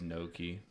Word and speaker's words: gnocchi: At least it's There's packaged gnocchi. at Walmart, but now, and I did look it up, and you're right. It is gnocchi.